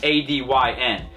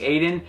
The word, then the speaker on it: ADYN: So, it's a dyn. I know for some of you it's going to like take a little bit longer than just saying Aiden, but uh that is how you correctly pronounce it.